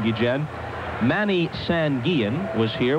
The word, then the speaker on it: Guillen: Before the game, Ozzie Guillen, and that is the proper way to pronounce his name, although he doesn't mind, as most people say Guillen, but you have brought me around, and now we're both saying Guillen.